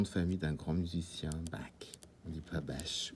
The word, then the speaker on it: Bach: Et puis, parfois, il y a aussi pour certains prénoms, comme Chloé, ou le nom de famille d'un grand musicien, Bach.